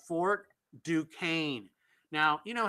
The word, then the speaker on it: Duquesne: It looks to me like it's Duscany, you know, but they pronounce it Duquesne.